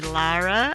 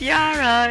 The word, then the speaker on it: Iara: Remember, you were calling me Lara, and I was like, no, it's Iara. It's a Brazilian indigenous name.